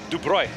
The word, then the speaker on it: Dubroy: So how do you pronounce it? Dubroy. That's how it sounds. Just like it looks.